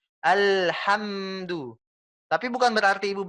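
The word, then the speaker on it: الحمد: Al. Sampai sudah bisa senyum. Ham. Sudah bisa senyum, itu berarti sudah sempurna, Bu. Alhamdu.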